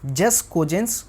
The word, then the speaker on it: jus cogens: आपने इस टर्म को काफ़ी बार सुना होगा जिसका नाम है जस कोजेंस। कोई इसे जूस कोजेंस भी पढ़ता है, अपनी अपनी प्रोनाउंसिएशन है, उसमें कोई दिक्कत नहीं है।